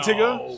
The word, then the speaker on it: Tyga: Is it Tyga?